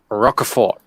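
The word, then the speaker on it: Rocafort: other long box so rockefort i say it's you don't pronounce the t he's from puerto rico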